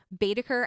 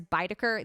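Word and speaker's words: Baedeker: my librivox recording um you will hear me mispronounce betaker as baidaker the entire way through i realized i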